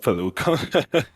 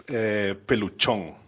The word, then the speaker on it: Peluchon: Yeah, no, it's not Pelucon. It's Peluchon.